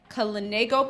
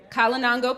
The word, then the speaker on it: Kalinago: Vincent, an island that has historically been home to shipwreck and volcano, as well as the Kalinago people, I believe I pronounced that right, Kalinango people, and descendants of the transatlantic slave trade, among others.